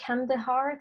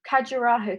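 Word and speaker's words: Khajuraho: And then someone else pointed me to a group of temples called the Kandahar Temples. Let me just say it right. No, Carajo Temples of Madhya Pradesh.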